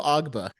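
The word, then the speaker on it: Ogbah: Emmanuel Agbu. How do you say his Emmanuel last? Emmanuel Ogba.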